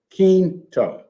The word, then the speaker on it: Quinto: that but first let me tell you the pronunciation is keen to keen reason why the family has reminded me